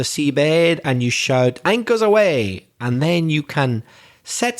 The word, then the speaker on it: aweigh: But that's not AWAY, is it? Like away from here? No, it's spelled AWEIGH, away.